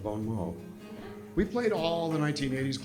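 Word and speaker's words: Bon Mot: a guy we had a band called bonmat which is a mispronunciation of Bon MO we played all the 1980s clubs Wong's West wangsies the music machine the club 88.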